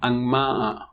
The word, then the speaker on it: angmaa: It's nga, but it's followed by ma. The word is angmaa, painted body marks.